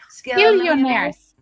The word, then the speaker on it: Skillionaires: Skillionaires. Not billionaires, it's skillionaires.